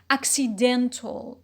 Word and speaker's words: accidental: it is a stress shifting suffix it becomes accidental accidental so what happened a stress uh shift